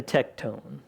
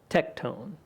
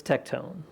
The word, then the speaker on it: tekton: to be one of us he's just a tectone that's pronunciation of the Greek word used to translate into what we know as Carpenter tectone I I kind of like to pronounce it